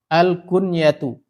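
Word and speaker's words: الكنية: Al-kunyatu. Kunyah. Yang benar ngomongnya itu adalah kunyah. Kalau Indonesia kunyah. Yang benar bacanya adalah al-kunyatu.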